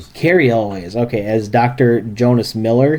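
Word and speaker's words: Cary Elwes: Uh, Carl, how do you pronounce his name? Carl Elwiz. Uh, Carrie Elwiz. Carrie Elway.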